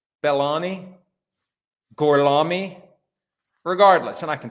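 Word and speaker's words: Belloni: on a podcast called the town with Matthew baloney I hope I'm pronouncing that correctly I'm always sensitive to the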